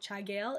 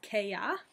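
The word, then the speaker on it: Cha Gheill: It's spelled Chagail. You'll sound like a frosh if you say Chagail. It is KYA.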